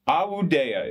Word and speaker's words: Awudea: Awudea is her name, but I break it up into ah, like ah, woo, like woo, day, like day, and Awudea.